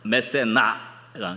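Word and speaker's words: Mécénat: 그것은 집합 명사인데 그래서 그게 뒤에 붙어서 메세나가 이제 발음으로는 티발음 안 하죠.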